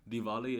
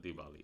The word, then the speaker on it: Diwali: I've seen growing up Diwali is as spelled with a W is a very like North Indian pronunciation whereas in the South